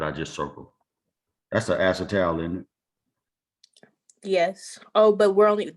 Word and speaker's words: acetal: Acetal.